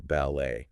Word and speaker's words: ballet: And this is kind of interesting because French likes to put emphasis at the end of the word on the final syllable. So think about words like hotel or ballet. Okay. Yeah. There's that kind of lift at the end.